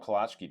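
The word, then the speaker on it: Kolacky: Home of kolachki days.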